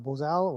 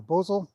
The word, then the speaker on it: bosal: he has on a bows a low or bosal depending on which way you want to pronounce it it's a simple head